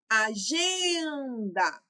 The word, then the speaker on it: agenda: Agenda. O gen eu falei por mais tempo, então é minha sílaba tônica e assim por diante.